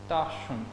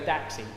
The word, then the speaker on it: Dachshund: Now, it's a German name, and my best friend's mother is German, and she said it is pronounced Dachshund. Dachshund. But everyone goes Daxi or Dachshund. Yeah. I don't know where the Daxi came from, because there's no X or any combination of the above in there.